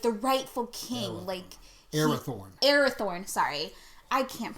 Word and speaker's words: Arathorn: know, but he has become Aragorn, son of Agathorn, is that right? Yep. Yeah, son of Agathorn, like the rightful king, Arathorn, sorry.